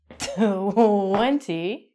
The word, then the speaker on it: twenty: The number 20, we don't say, we say 20.